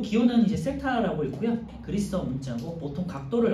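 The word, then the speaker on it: θ: 4번은 이제 세타 값이 중심각의 각도가 이 2시간이라고 했으니까 30도가 되겠죠. 그래서 뭐 1번이네요. 세타의 크기는 15도가 아니라 30도다. 이 기호는 이제 세타라고 있고요.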